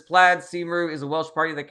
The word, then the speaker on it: Cymru: It's pronounced Cymru.